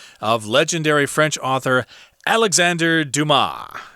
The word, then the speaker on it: Dumas: legendary french author alexander dumas remember the s there is not pronounced in french at least in this